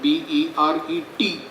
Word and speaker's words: beret: is called a beret, B-E-R-E-T. T is silent, it is pronounced beret, and infantryman will have a green beret.